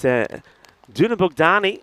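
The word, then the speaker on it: Dunabogdány: What I can tell you is Dunabukdani. That is how it's pronounced by the way.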